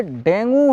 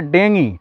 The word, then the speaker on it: डेंगू: जो पहले तो देखिए डेंगू हिंदी में लोग बोलता है इसका सही उच्चारण होता है देंगी ठीक है यह ऐसा